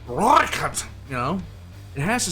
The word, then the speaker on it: Rooikat: It's like you can't say Rooikat, but it's like speaking Italian without using your hands. You have to say it Rooikat, you know?